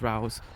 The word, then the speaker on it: Rous: There are a few pronunciations behind it. Rous, Rouse. However you pronounce the O and the U together is how you pronounce it.